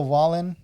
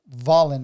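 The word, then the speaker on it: Wallin: really impressed by otto wallen vollen i'm sorry it's it's with a v it's spelled with a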